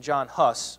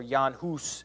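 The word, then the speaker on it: Jan Hus: mention John whitecliffe and John hus or Yan hus is how you're supposed to say his name he's Czech uh but okay John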